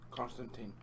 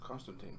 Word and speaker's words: Constantin: Constantin. Yeah, it's pronounced Constantine. He's German.